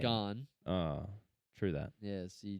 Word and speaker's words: Gane: Well, if you learn how to pronounce his name, you'd realize that joke doesn't even come close to working. What do you mean? It's Gain. gone.